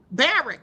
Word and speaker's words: Barak: Barrack, not Barack. It's like Barrack.